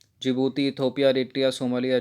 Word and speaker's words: जिबूती: और D four है जिबूती। जिबूती को डी से लिखते हैं। ठीक है, डी साइलेंट है जिबूती में, तो हटा दीजिए इसको।